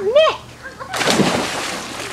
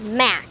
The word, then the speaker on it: Mac: No, it's not Mick. It's pronounced Mac.